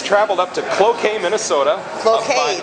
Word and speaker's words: Cloquet: Cloquet, that's how you pronounce it. Okay. Yeah, it doesn't look like that. It looks like Cloquet, but it's Cloquet. I only know that because I've got family that lives about 10 miles away. So. Well, it'd be like croquet.